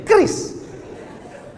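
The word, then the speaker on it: QRIS: Q ris cara bacanya gimana sebetulnya? Kris.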